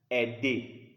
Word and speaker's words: aider: AI is pronounced in French E, like aider.